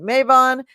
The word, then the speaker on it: Mabon: we're going to be talking about Maven some people pronounce it mavon we will talk about